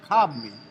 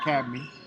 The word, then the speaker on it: Cobney: It's Cobney, not Cabney.